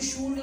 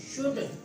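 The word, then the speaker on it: should: और डी के दरमियान में एल आएगा, एल साइलेंट हो जाता है। कुड, वुड, कूल्ड, वुड, शूल्ड नहीं होता, अक्सर जगह वुड, वुड, वुड, कुड, शुड।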